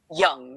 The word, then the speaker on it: Jung: And you're right about Carl Jung, too. It's pronounced young, not Jung with a hard J.